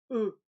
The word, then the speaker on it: eux: prononcés nixey peu e le x ne se prononcent pas eux et pour le pronom